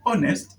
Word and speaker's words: honest: So the word honest is pronounced as honest. Pronounced as honest. Okay? When you look at the pronunciation, the first letter is a vowel letter, therefore has a vowel sound.